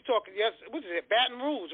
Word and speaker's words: Baton Rouge: um what you talking yes what is it baton rouge right am i saying it right yeah that's